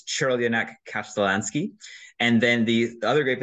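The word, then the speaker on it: Crljenak Kaštelanski: If you're looking at the write-up, yes, that's how that's pronounced. And yes, I looked it up because I don't speak Croatian, but it's Chirlionak Kasztelanski.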